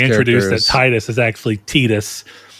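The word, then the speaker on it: Tidus: Yeah, that that is Titus as everybody called him before that game came in and said, actually, it's supposed to be pronounced Tetus this entire time.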